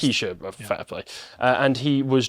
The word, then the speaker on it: Waukesha: I think it was November, he was in Waukesha, Wisconsin, and he just... Waukesha, I think it's pronounced. Waukesha, fair play.